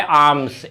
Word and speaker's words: alms: वो है आर्म्स, ALMS, ध्यान रखेंगे एल के बाद एम आता है वो साइलेंट रहता है।